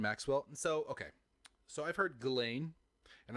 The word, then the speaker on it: Ghislaine: And so I've heard Ghislaine and I've heard Ghislaine. I like Ghislaine because fuck that bitch. Yeah, I've heard it both ways too. And if she didn't want the S pronounced, there wouldn't be an S in that name as far as I'm concerned. Ghislaine it is.